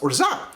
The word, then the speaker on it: Orgeat: I actually had a friend who is a French native speaker, and she says it's pronounced Orgeat. And I swear that's got to be because there's different regional pronunciations in France.